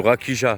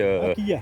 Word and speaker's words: rakija: Ou rakija, parce que ça s'écrit Rakia. R-A-J-I-C-A. R-A-K-I-J-A. K-I-J-A, oui, voilà, K-I-J-A. Voilà, mais ça se dit rakia.